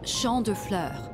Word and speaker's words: Champ de Fleurs: Champs de Flores? How do you say that? It's Champ de Fleurs.